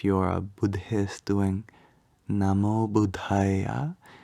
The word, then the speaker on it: Buddha: Like, for example, if you're a Buddhist doing Namo Buddhaya, here you have a DH sound in Buddha. So you want to make that H sound after the first Buddha.